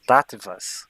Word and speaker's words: Tattvas: Se pronuncia Tattvas.